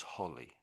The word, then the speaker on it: holly: And if it's double L, then it's holly. That's the difference. Holly, holy and holy.